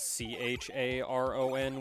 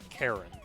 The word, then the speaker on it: Charon: uh the greek spelling in the greek pronunciation it is pronounced karen um so i used